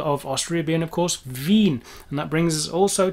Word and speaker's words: Wien: vienna the capital of australia being of course veen and that brings us also to something which